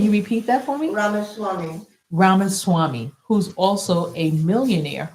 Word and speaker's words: Ramaswamy: What it's supposed to do with, along with Vivek Ramathi, how do you say his last name? Do you remember? But I'll just say Vivek, right? Ramaswamy. Can you repeat that for me? Ramaswamy.